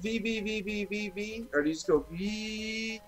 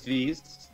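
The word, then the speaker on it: VVVVVV: do you pronounce it vbv so terry the creator uh says you can either go six v's uh the letter b six times or v okay i choose v because it's five less and then danny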